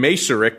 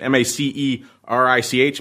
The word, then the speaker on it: Macerich: This was in Macerich. I think that's how you pronounce it. M-A-C-E-R-I-C-H. Macerich, maybe? Maybe Macerich, if we're getting old-school Greek on it, maybe. But let's go with Macerich.